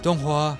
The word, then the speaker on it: donghua: It's pronounced DongHua.